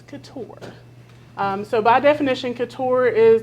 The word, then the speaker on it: couture: The amount of people that walk into our business and say, what's a cultured milkshake? What's a, like all the different ways that they could possibly pronounce the word, but it's couture.